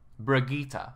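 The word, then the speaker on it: Brigitte: to be taken out the brigita brigita that's how you say it by the way they actually said it in the overwatch League so right there I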